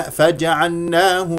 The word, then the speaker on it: فجعلناه: ايضا فجعلنا فجعلنا ماذا ركزت على اللام لانه منهم من يدغم فلا ينطقها فجعلنا فجعلناه فجعلناه هكذا اقراها فجعل فجعلناه فجعلناه لا تقل فجعلناه ناه هذه الف ممالا تخلص منها بفتح الفم سميعا سمي سمي كسره